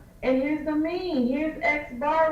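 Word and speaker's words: x̄: And we pronounce this guy here as X bar.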